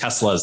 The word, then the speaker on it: Tesla: Ole is Norwegian, and he had gone out and bought one of the first Teslas that was available in Norway.